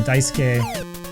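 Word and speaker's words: Daisuke: There was even a debate on that forum about how to say his first name, whether you could you should say Daisuk or Duke. Of course, it is Dais.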